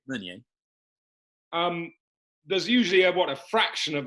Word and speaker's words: Meunier: Meunier. Meunier.